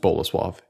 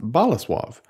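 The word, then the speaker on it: Bolesław: me via email Thank You Jake it's not pronounced bola suave it's pronounced bola suave so that was a recurring mistake it will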